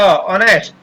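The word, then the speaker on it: honest: नेक्स्ट है हो, ने, स और ट, ऑनेस्ट, यहाँ पर ह साइलेंट रहता है, ऑनेस्ट।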